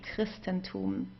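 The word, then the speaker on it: Christentum: So we would pronounce it like a K in this case.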